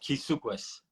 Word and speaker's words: Kisukwis: My name is pronounced Kisukwis, but nobody will ever know how to pronounce that except for my family. So you can call me. Everybody calls me.